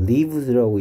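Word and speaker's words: lives: 아니고 라이프니까 life의 복수형이니까 얘는 똑같이 생겼는데 얘를 라이브즈라고 읽느냐 리브스라고 있냐에 따라서 살다인지 생명들인지 달라지는 거죠 똑같이 스펠링은 똑같은데 발음에 따라서 life의 복수형 라이브즈냐 리브의 3인칭 단수형 리브스냐 구분하셔야 되겠고요 여기에 얘는 셀 수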